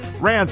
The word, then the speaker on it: Rans: great day for ranz walker or excuse me rands am i pronouncing your name correctly uh yeah christopher that